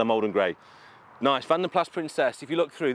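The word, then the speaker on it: Vanden Plas: will rage forever of whether you pronounce it Van den Pla or Van den Plas. I am assured by very good people with great authority that because it's a Belgian origin name, it is Van den Plas, and I will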